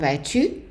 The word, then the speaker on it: vas-tu: The next one is comment vas-tu? And you don't pronounce the S.